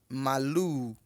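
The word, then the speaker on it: màlúù: É com 2 U's, tá? Vocês vão acabar encontrando em alguns dicionários a vaca escrito assim, ó. M-A-L-U e um tio. Antigamente aqui usava-se esse tio em cima para definir que a vogal pronuncia-se 2 vezes. Mas a escrita correta da palavra vaca é essa aí em cima, tá? E a pronúncia é malu. Malu.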